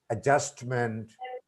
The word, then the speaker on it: adjustment: And here, one thing we can tell our students that before J, D is not pronounced. For example, adjective, adjacent, adjourn, adjustment. Thank you.